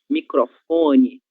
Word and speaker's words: microfone: Na mesma coisa de telefone, nós vamos ter a sílaba tônica fó, ok? Microfone, certo?